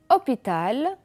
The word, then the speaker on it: hôpital: le mot heures heure vous allez remarquer que le h ne se prononcent pas comme dans sommes heureux hôpital habité 8 et heures